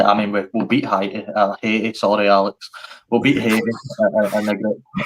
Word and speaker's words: Haiti: Did we Why does no one pronounce that correctly, guys? It's Haiti.